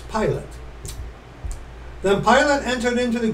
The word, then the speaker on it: Pilate: Hall again this one in the pronunciation key has it uh it's pilot then pilate entered into